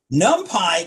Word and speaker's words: NumPy: at you so don't do that it's numpy nump Pi contains a lot of code for solving linear